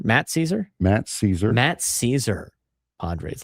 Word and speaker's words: Szczur: Oh, was it Max Caesar? Matt Caesar?